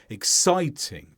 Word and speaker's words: exciting: So exciting, 3 syllables, 1 stress on side.